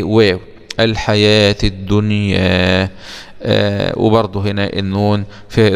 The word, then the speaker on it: الحياة: في هذه الحياة الدنيا، اوعى تقول الحيوات الدنيا، الحيوات لا، هي لما تلاقي الواو عليها علامة الألف الصغيرة كده يبقى بتنطق ألف ولا تنطق إيه؟ واو. الحياة الدنيا، وبرضه هنا النون في إظهار مطلق.